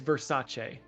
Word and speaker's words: Versace: They did look it up, and it is pronounced... we got to find it here. It's Versace.